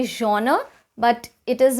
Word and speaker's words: genre: a bad joke but this is not jenner it's a genre or johnner okay not jenner number three we have